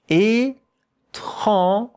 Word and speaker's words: étrange: And look at how to pronounce it. Étrange. That sound here is J. J. And here we have a nasal vowel.